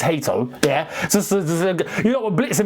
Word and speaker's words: Hato: It's Hato, yeah?